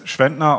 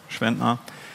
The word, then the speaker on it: Schwentner: That's Schwentner, or for the non-German native speaker, it's pronounced like this, Schwentner.